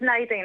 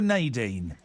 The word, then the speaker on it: Nadine: Now listen, I was going to say, are you a Nadine or a Naen? Yes, I'm a Nadine. What's the difference? Um, Nadine is the French pronunciation. Mine is the English American.